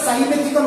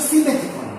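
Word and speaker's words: simethicone: ঠিক আছে, যেমন হচ্ছে সিমেথিকন, অনেকে আমরা সাইমেথিকন বলি, অ্যাকচুয়াল প্রোনাউন্সিয়েশন হচ্ছে সিমেথিকন।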